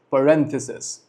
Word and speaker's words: parentheses: Remember the correct pronunciation, it is parentheses.